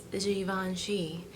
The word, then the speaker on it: Givenchy: I would pronounce it as Givenchy, but I know it's fancier than that. It's Givenchy.